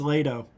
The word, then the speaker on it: Lato: It's Lato, not Leto. I said it wrong. It's Lato. Yeah, here we go.